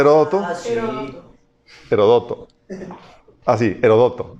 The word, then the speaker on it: Heródoto: Ah, sí, Heródoto, con acento en la O.